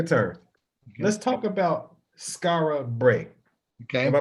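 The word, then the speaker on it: Skara Brae: Let's talk about Skara Bray. Okay. Am I pronouncing that correctly?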